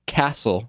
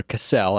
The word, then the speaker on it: Cassell: the guy's name is jack castle or cassell i think it's i think it's pronounced castle and he put up